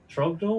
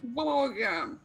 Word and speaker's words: Torgum: Trogdor? What was it? Torgum. That's what I said. Okay, you're saying it wrong. Torgum. So did you guys used to date or something?